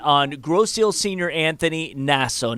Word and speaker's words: Nasso: But first, we would like to have Bill comment on Grosse Ile senior Anthony Nasso. Now, it could be pronounced Naso. So either way, we want to put that out there.